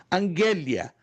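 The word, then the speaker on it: ἀγγελία: É aqui como se escreve essa outra palavrinha no alfabeto grego e como se pronuncia em português. Angélia.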